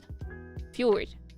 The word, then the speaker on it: fjord: Fed, fur, fjorded. You can say f or you can say fjord or you can say f and the d is kind of silent.